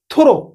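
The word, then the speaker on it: through: टी एच ओ आर ओ आकु कोन बडे थोरो थु रो यू जी एच को एठी पूरा साइलेंट रखा पला ओके आर माने संपूर्ण पूरा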